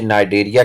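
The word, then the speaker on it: Cnidaria: Phylum का नाम है कोलेंट्रेटा, जिसे नाइडेरिया के नाम से भी जाना जाता है, सी साइलेंट है।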